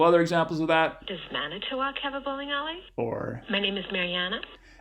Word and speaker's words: Manitowoc: Yeah, it has 4 syllables and has stress on the first and the last, Manitowoc.